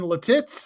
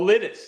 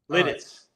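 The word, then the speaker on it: Lititz: Uh, the 20 the 62nd annual antique show in Latitz. How do you pronounce it? Oh, Littis. That's Litz up in Lancaster County. Oh, it's Litz.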